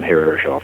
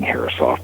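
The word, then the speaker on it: Herreshoff: name harof or harof depending on your school of thought on how it should be pronounced right um I guess now most people are saying heroft but I'm so far north that I'm hoping that I can get away using the old pronunciation yeah anyway um those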